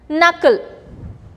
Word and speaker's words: knuckle: K is silent here. Knob. K-N-O-B. Knob. So the word K is getting silent here. Knuckle.